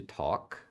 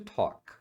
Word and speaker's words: talk: e conversar é to talk aqui uma dica de pronúncia a pronúncia do verbo conversar essa parte aqui ó você pronuncia com som de o Talk muita gente fala